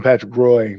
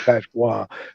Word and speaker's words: Patrick Roy: I used to call him Patrick Roy, but his name's Patrick Waugh. I always thought it was funny. It's spelled R-O-Y, and I'm like, I'm a young kid.